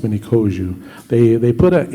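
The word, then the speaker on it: Miniconjou: and I am the many koju it's uh pronounced many koju they they put an n in the in the spelling of mini koju and forever since then people pronounce it konjo so anyway comes from the word hawozu um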